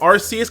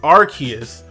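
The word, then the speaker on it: Arceus: you actually say RC we all call them rcus cuz it sounds a little better to us but his name is actually pronounced archus R archus ARS archus he's definitely supposed to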